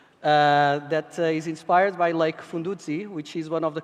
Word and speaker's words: Fundudzi: That is inspired by Lake Fundudzi, which is one of the continent's most precious ecological treasures, and he works a lot with artisans.